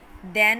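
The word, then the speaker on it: then: দেন হচ্ছে দ এর মতন উচ্চারণ হচ্ছে দেন, সো দ্য answer is ওয়ান।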